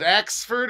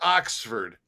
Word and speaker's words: Oxford: All right, Rick Charlton, is it Axford or Oxford? I say Oxford. O-X. I would say not Axford, Oxford.